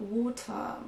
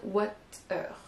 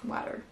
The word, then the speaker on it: water: Et en anglais britannique, ce sera water. Bon, je fais ce que je peux, mais vous n'entendrez pas de R à la fin, et en effet, le T est prononcé. Mais en tout cas, c'est pas du tout la prononciation qu'on a souvent envie de dire, qu'en français, on aura tendance à dire water. Ne prononcez pas le R à la française, clairement, c'est pas le cas.